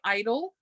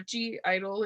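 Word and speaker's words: (G)I-DLE: like a lion by Idol, or G Idol if you pronounce the G, roar by Katy Perry,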